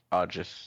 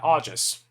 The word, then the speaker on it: Augeas: Augeas. Yeah, Augeas.